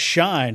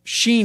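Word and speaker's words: Shein: What about Shine? Have you guys Are you on the Shine? Do you Are you Sheen? That's it. I'm sorry. I always say it wrong.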